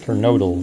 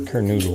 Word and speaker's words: Kernodle: Kernodle, not Kernoodle.